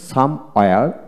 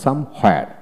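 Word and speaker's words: somewhere: যেমন এনিওয়্যার আবার এনিহোয়ার, তো আমরা অ্যাজ ইউজুয়াল এনিহোয়ার উচ্চারণ করি। তারপর সাম ওয়্যার আবার সাম হোয়ার।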